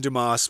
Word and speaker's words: Dumas: And Dumas' father died when Dumas was 4. Excuse me, Dumas. The S, I guess, is silent in French there.